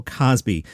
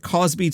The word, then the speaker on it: Cosby: The Gay City News said, what was your interaction like with Bill Cosby? Now, I noticed Gilbert would always say Cosby, like rhyming with Crosby, Bing Crosby, Bill Cosby.